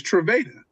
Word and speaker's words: Trevada: Nah, like, nah, it's Trevada. It's Trevada, not Trevada.